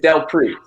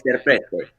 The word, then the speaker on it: Del Prete: It's Del Prete. Del Prete is how you say it if you want to keep that show, but if you want to go a little time, it's Delaprete.